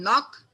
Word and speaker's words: knock: Some words have initial consonants which are not pronounced. For example, H in honest, W in wrap, K in knock.